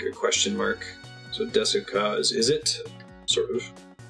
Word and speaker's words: ですか: You just don't pronounce the trailing U at the end of most Japanese words, or you say it so quickly as to be practically inaudible.